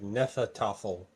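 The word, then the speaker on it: Hnefatafl: Okay, so the H is silent too. So it's like Nefatafel.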